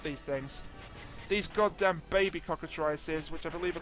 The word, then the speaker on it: cockatrice: I think I'm saying it right is it cockatrice yes it is the way I find the